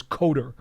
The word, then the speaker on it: Kotar: They listed on Pro Football Reference Kotar, and Kotar, it's spelled Kotar, but we always knew him as Kotar. That was the way you pronounced it.